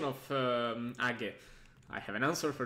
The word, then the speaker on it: age: about the pronunciation of age i have an answer for this ag is pronounced like the root of the word raise in japanese so no no no